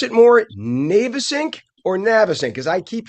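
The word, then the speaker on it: Navesink: Family fireworks on the now we can pronounce this two ways. I believe the formal way is the Navasync, but I think a lot of people call it the Navasync.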